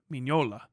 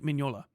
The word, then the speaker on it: Mignola: Mignola. Mike Mignola.